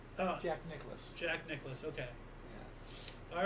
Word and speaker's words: Nicklaus: And it's pronounced Nicholas. Oh, Jack Nicklaus.